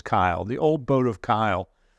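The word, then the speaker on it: Caol: Old Man of Kyle it's it's spelled c-a-o-l and I wasn't really sure how to pronounce that until I saw the English uh subtitle on the street signs and it is Kyle the old boat of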